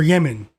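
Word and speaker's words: Demin: Two assists for de for Yemen. It's is spelled Demen, but they pronounce it like Yemen.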